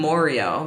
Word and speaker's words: Moreo: a long time that people call him Moreo because it rhymes with Oreo.